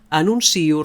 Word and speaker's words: anuncio: La síl·laba tònica és sí i no pas nun. Així doncs direm anuncio, renuncio, pronuncio, odio, etc.